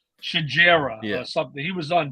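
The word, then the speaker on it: Xigera: now it's spelled x-i-g-e-r-a and I was thinking exegier or whatever and it's like shajera yeah something he was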